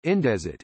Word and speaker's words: Indesit: Indesit Company, Italian pronunciation, Indesit, is an Italian company based in Fabriano, Ancona province.